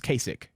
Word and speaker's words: Kasich: and then uh K is that how you say his name cich kich Kasich Kasich yeah no it's Kasich I hate him yeah